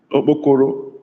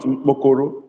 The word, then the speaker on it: Okpokoro: Igbo could have used no Okpokoro. Okpokoro, not Mkpokoro.